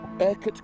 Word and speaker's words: Urquhart: Urquhart Castle, I've said it right?